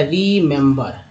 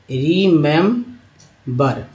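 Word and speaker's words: remember: तो 3 ई जो है इस उच्चारण देखिए, पहले आर के साथ ई है, एम के साथ ई है, बी के साथ ई है। तो आर के साथ जो ई आया उसका छोटी के रूप में, एम के साथ जो ई आया ए के रूप में, बी के साथ जो ई आया उसको आ के रूप में उच्चारण किया गया।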